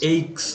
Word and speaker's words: aches: Influenza patients may suffer from fever, body aches, headaches, এইক্স, এটা diarrhea, এইক উচ্চারণ হবে, এইক্স।